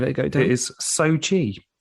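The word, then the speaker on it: Xochitl: Benedict Wong now I don't know how to pronounce Ms Gomez's name do you want to give it a go it is Sochi Sochi it's amazing uh Michael stahlberg and Rachel the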